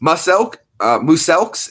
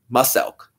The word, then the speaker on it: Muselk: Muselks. Yes, I love his channel. Muscle K is how I like to remember it. Muscle K is how it's spelled. Muselk.